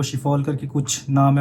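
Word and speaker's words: Schiphol: जो एयरपोर्ट है वो शिफॉल करके कुछ नाम है। मैं सही से प्रोनाउंसिएशन नहीं कर सकता क्योंकि वो डच वर्ड है, तो शिफॉल ही पढ़ते हैं उसको मोस्टली लोग।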